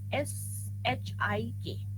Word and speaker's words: Schick: It's written SCHICK, but C they don't pronounce it. They pronounce it as SHIK, Shik test, right?